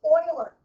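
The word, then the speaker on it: Euler: His last name was Oiler spelled with an E.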